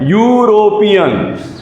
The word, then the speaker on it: European: It is pronounced as European. What is being pronounced? European. So what is this U? It is being pronounced as consonant. So we will be just yo. It is yo.